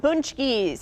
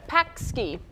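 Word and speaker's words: pączki: We're continuing our conversation about punchkis. I just learned how to say it today. Punchki, yeah, it can also be pronounced punch punchki. I was calling it a pakski.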